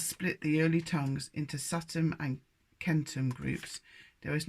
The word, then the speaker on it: Satem: Satem, not Satan, S-A-T-E-M.